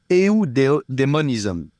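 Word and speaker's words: eudaemonism: We talk about not adonism but audism which is spelled e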